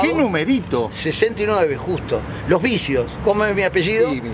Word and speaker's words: Bissio: Los vicios. ¿Cómo es mi apellido? Sí, con sí. B larga y S. Exacto. Los otros son con B corta y C. Pero la pronunciación es exactamente lo mismo.